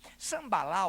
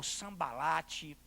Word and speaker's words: Sambalate: Muito bem, Sambalá ou Sambalate, pronuncia à vontade.